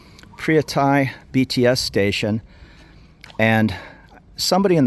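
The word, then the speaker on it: Phaya Thai: And she said it's Phria Thai.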